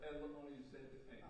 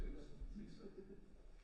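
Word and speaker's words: Liza: And Lisa is spelled, I think it's pronounced Lisa, but it's spelled L-I-Z-A. She's a Lisa, thank you. But I'm sure it's not Liz, it's Lisa.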